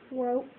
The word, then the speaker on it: woke: Woke up. The E at the end is silent. Right, the E is silent, but what does it do to the O?